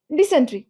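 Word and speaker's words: dysentery: তো ডিওয়াই সিনটি ডিসেন্ট্রি বাট না এটা সেন্ট্রি উচ্চারণ করবা না ডিসেন্টেরি ডিসেন্টেরি উচ্চারণ করবা তাইলে ঝামেলা কমে যাবে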